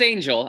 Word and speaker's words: Angell: so eric so now your last name is angel but with two else yes oh did i say it correctly though yeah it's angel i think i think